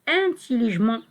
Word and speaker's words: intelligemment: On écrit ement, mais on prononce intelligemment.